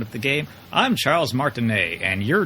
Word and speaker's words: Martinet: you say his name I've been calling him martinet but he says when you start up the game i'm charles martin a and you're not anyway this is runner 3